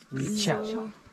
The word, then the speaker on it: Wechiau: Wechiau. But the spelling is different. Huh. And the spelling, the we is the same thing like the English we. So Wechiau is spelled W-E-C-H-I-A-U.